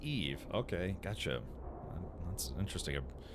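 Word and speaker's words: Yves: Oh, uh, Eve is a French man's, uh, name where I come from, pronounced Eve.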